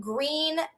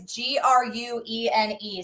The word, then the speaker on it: Gruene: So, no Gruene, Texas. And you know how it's spelled, Jerry and Joe, which is funny, is g r u e n e. So, it looks like it should be Gruene, but we're going to